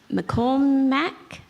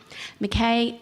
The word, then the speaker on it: Mackay: and Cowra High School, McCormack. No, okay, let me try it. So I tried Mackay. Mackay. Sorry, I made a personal promise to myself that I'd remember to pronounce that correctly. Mackay, Laura and Seamus, would